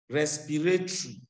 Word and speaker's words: respiratory: Look at this word, respiratory. You don't pronounce that O at the end, respiratory.